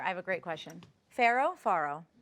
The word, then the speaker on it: farro: Farro?